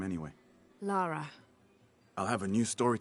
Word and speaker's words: Lara: does say Laura instead imagine the name Cara and try and think of pronouncing Lara in the similar kind of way like you wouldn't say Cora fakara so instead of going